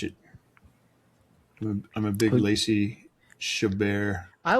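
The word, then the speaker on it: Chabert: I'm a big Lacy Shabar. I always I always pronounced it Chabbert. I never thought it was like French.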